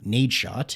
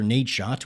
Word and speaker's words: Nadeshot: Anyway, I named my character Nadeshot, which coincidentally rhymes with my name, Waydot, so it actually worked out pretty well.